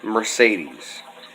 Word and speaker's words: Mercedes: For example here, the word Mercedes. You have 3 E's all pronounced differently. And, you know, that second E in there sounds almost like an A.